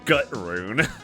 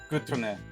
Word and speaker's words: Gutrune: It's pronounced Gutrun. It's German. Ah. Gutrune.